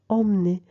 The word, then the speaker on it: emmener: E muet, on le mange entre deux consonnes. Emmener.